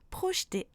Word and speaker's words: projeter: Par contre, il ne se prononce pas quand il est à partir de la deuxième syllabe du mot, comme dans samedi, boulangerie, projeter.